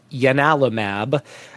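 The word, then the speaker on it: ianalumab: So, this is a it's it's spelled like I A Alamab, but it's actually pronounced Yanalamab uh named after the uh god Yanis or Janice, the same uh god that you know gave its name to Janice Kynise.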